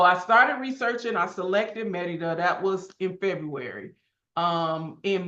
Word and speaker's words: Mérida: For those of you who don't know, I live in Merida, Mexico, and that's how you say it in Spanish. If you say it in English, you say Merida, right?